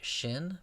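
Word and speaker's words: שׁין: The next letter of the Hebrew alphabet is a shin, pronounced like English sh.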